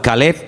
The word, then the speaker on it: Caleb: Para diferenciar el nombre del perro se pronuncia diferente, pero se escribe igual. Caleb es para el hombre, para un hombre propio.